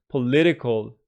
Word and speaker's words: political: This one is an adjective, political, the second syllable.